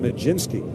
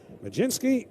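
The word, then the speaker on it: Mlodzinski: Well, anyway, Ramirez will come on now in relief of get to say this for the final time today, Carmen Majinski.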